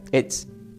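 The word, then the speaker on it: עץ: La palabra madero del hebreo se pronuncia como etz. Es un poco difícil, tiene un acento en la E, pero es E, la T y la Z, etz.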